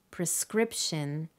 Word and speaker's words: prescription: syllable and so on the stress falls on the first syllable in hospital the second syllable in prescription and the third syllable in personnel the patterns are not